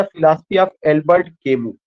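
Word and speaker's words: Camus: The philosophy of Albert chemo. ये किसके philosophy से रिलेटेड है? Albert chemo. इसका प्रोनाउंसिएशन केमस नहीं होगा, यह साइलेंट हो जाएगा, केमू तक ही प्रोनाउंसिएशन हमें करना है।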